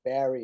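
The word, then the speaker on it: Bary: the name of santa barry it's not it's it's spelled berry on the minutes oh okay it's barry and i believe it's only one r b-a-r-y okay i will look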